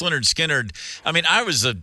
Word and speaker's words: Lynyrd Skynyrd: you know the B the band you know pronounced Leonard skinnard I mean I was